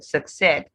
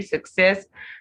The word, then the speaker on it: success: accessory accident accidental success now this word is stressed on its second syllable success sorry success succeed successful vaccine and